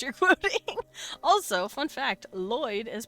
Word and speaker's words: Lloyd: Lloyd is pronounced Lloyd. It's why Lloyd and Floyd are considered the same name because it's people just miss hearing it.